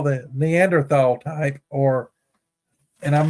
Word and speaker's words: Neanderthal: The type 2 is what I call the Neanderthal type, and I'm not pronouncing Neanderthal correctly. It's Neanderthal, I think. But I think the H is silent.